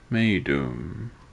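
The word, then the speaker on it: Meidum: was the pyramid of madum me doom that's how you say it me maidum maidum while sneferu's monument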